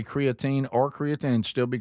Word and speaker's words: creatine: The American way of saying it is creatine.